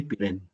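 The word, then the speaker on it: Pirenne: Quítale la última E y con eso tienes la pronunciación. Henry Pirén.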